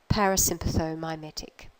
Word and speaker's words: parasympathomimetic: letters in that term a lot of syllables but I want you to break it down like this first of all the nervous system that's involved go all the way through to that syllable there parasympathetic at that nervous system they're mimicking it parasympathomimetic so we're interested in